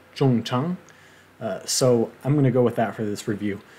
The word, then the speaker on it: Jung Chang: the author's name, and most of the interviews I watched said something like Young Chang, which, well, she may have anglicized her name, but that can't possibly be very close to the original. From what I was able to find, it must have been something more similar to Zhang Zhong, which an anglicized pronunciation of that would be something more like Zhong Chang.